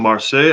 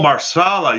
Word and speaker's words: marsala: Oh, marsala. You're trying to say marsala.